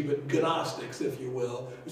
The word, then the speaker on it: gnostics: saying these gnostics okay you don't pronounce the g but gnostics if you will who